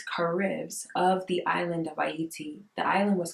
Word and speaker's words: Ayiti: And that's why it's called Ayiti to this very day. Pronounced Haiti, right? It's pronounced Haiti by the Americans, but it is Ayiti.